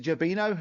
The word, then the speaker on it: Jino: how also um J is it jino is that how you pronounced it yes yeah yeah I've seen